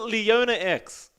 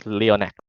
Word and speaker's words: Leonac: Is it Leona X? It's Leonac. Leona? Like a C at the end?